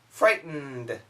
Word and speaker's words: frightened: Frightened. Frightened. Threatened. He frightened me. He frightened me. He threatened you. He threatened you. Okay? These are pretty tough. Once again, this pronunciation style is called the glottal stop.